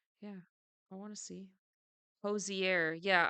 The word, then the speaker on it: Hozier: I want to see Hosier yeah I thought it was hoser um and then I watched the video and found out that it wasn't I like oops oops